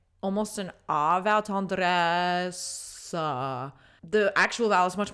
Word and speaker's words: tendresse: She's singing the word tendresse, which if you were a French speaker speaking it, you would just say tendresse, and you don't pronounce that ending schwa.